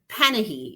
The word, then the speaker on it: Panahi: on Twitter Panay we are we pronouncing your last name correctly I never corrected because most people get it wrong it's panahe is just pan most say pah hi I let it go